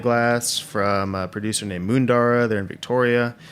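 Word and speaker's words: Moondarra: Ros by the glass from a producer named mundara they're in Victoria spell it for me cuz we m o o n d a r r a i I'll double check it yeah mundara it's a bodnam IC uh grower they cultivate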